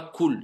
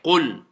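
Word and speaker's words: قُل: juste la prononciation des lettres, prononcez-les bien correctement. C'est pas cool, c'est qul, qul.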